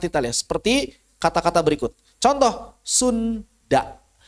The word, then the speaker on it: Sunda: Contoh, Sunda. Maka orang Bandung nggak akan baca Sunda. Bacanya apa? Suna. Bahasa naon?